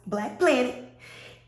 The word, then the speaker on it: Black Plant It: If you want to see what I'm doing with my plants, at _Black Plant It, but I'm black, so you know it's pronounced Black Planet.